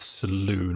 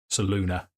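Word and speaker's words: Selûne: More of a moon, and with your affiliation with Saloon or Saluna, depending on how you want to pronounce it, you suddenly think, wait a minute, this isn't Lathander.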